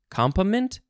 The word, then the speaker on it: component: I guess some people also emphasize the first syllable. Component?